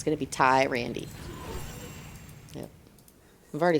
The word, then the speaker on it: Tyrande: was a bit helpful tyronn d it's a how it's pronounced Tyrande hi Randy I say